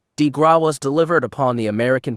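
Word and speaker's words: de grâce: The killing blow, the coup de grace pronounced, de grace, was delivered upon the American people by Franklin D.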